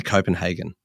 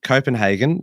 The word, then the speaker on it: Copenhagen: big on on pronunciations do you say Copenhagen or Copenhagen I say Copenhagen I would have said Hagen but I'm happy to go with hagen oh deep divisions existing within fear and greed Copenhagen that came in at